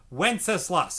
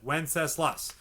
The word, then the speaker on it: Wenceslas: over and then we have good king wenceslas wenceslas that's how you pronounce that wenceslas so here is good king wenceslas we're almost